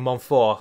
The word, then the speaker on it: Montfort: Don't pronounce the last letter unless there's a vowel following in the next word. It's about the only rule from French I remember. Which is why I keep saying Montfort and not Montfort.